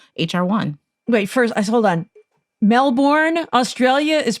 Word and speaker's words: Melbourne: a friend of mine taught me that it's pronounced melbourne um uh daniel writes could you please help